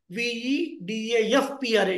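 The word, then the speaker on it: वेदः प्रचेताः: the recording, so when there is a pa after the visarga, it should be uttered in a manner like fa. Example, I'll tell you. Vedah pracheta sadasit VEDAFPRA. In such a way, you should pronounce it.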